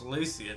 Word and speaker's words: Lucian: Um, you mispronounced my brother's name wrong. It's Lucian. I know. I realized it. Yeah, Lucien.